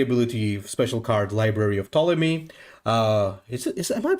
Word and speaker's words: Ptolemy: So he's got the ability special card, Library of Ptolemy. Am I pronouncing that correctly, Ptolemy?